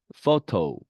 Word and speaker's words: photo: P 다음에 H가 오면 음가가 F 발음의 음가가 됩니다. 그래서 photo, graph 이렇게 발음이 됩니다.